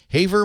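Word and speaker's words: Havre: to call and Charlie in Hy is it haa Montana Haver Montana Leo leaport The Tech Guy good afternoon Leo hey Charlie how you pronounce that h h a v r e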